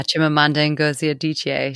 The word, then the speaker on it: Chimamanda Ngozi Adichie: Yeah, Chimamanda Ngozi Adichie.